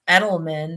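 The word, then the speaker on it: Eidlman: I have a friend whose last name is Edelman that's how he pronounces it but it's EI d l m an right so that's that's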